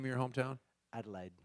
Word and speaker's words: Adelaide: do you say the name of your hometown Adelaide Adelaide a lot of people think we're saying La